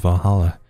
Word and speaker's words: VA-11 Hall-A: The name sounds silly and a bit hard to pronounce. Good thing it's actually called Valhalla. The funny numbers and letters are just a code.